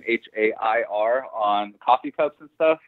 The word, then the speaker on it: Hare: Mr Jake you know I always say hair like a rabbit uh because that's the easiest way to say it some people I always get people to spell my name h-a-i-r on coffee cups and